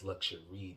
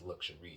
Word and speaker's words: LuxuReid: It's LuxuReid.